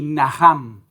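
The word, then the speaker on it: נחם: Por ejemplo, comenzando ahí en el Antiguo Testamento, hay una palabra hebrea que se pronuncia así, naham.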